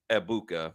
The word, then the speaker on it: Egbuka: I get it after week 1, but it's Emeka Egbuka. The G is silent.